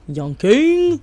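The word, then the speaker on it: YVNGKING: Yoning. Right. Um, it's spelled Y V N G K I N G.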